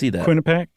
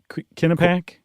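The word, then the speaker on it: Quinnipiac: Uh, Kinnipiaak University poll. How do you pronounce that? Quinnipac. Kinnipac.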